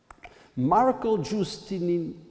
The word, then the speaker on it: Giustiniani: Let me I want to be able to pronounce it properly. Marco Giustiniani.